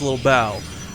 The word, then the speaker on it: Lilbow: But Kane assures us after living and spending time with him, it is pronounced Little Bow.